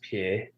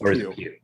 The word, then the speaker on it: Pugh: of ScarJo and Florence Pugh, or however you say her name. Is it Pug? Is it like Pug? No, it's just Pugh.